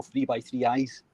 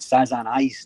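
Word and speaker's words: 3×3 Eyes: this show because I've always called the show three by three eyes and the title is never explicitly stated during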